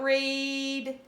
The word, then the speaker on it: read: So think about read. So it is with a long E sound. Because it says E, read.